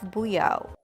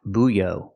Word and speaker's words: buoy: Pronunciation, buoy, buoy. Make the long oo like food and moon, boo, and then have the long e like green beans, e. Together we link the sounds with the w sound.